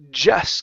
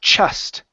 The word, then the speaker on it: just: Okay, so you're pronouncing a CH. You're saying chust. Instead of ch with the CH, it's j. So you need a voice sound there.